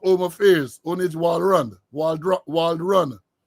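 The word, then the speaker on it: Walrond: affairs onage Walrun Wald Wald run I used to say Waldron all the time I saw the thing the other day my apologies to you Minister Wald run for mispronouncing name Waldron sir that that type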